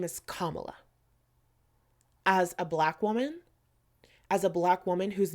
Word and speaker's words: Kamala: So my response to this is, first things first, her name is Kamala.